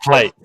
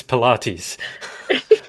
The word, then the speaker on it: Pilates: Not plates. It's not plates. It's not pilates. It's pilates.